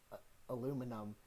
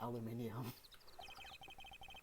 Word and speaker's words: aluminum: I was just wondering, why are camping pots and pans made of aluminum? I was about to pronounce it aluminium.